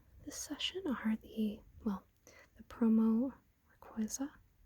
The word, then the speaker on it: Rayquaza: So, the most notable pulls from this session are the promo Rayquaza. I usually say Rayquaza, but I've heard it pronounced Rayquaza, so I kind of alternate the pronunciation to cover the bases.